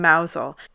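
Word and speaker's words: Mousehole: 23rd of December in mousel a beautiful fishing Village it's also spelled mous hole but it's never pronounced that way the festival honors a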